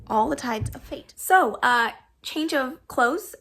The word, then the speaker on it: All the Tides of Fate: all types of fate i want to call this all tides of faith every time and i know it's not that but every time i say it wrong all the tides of fate so uh change of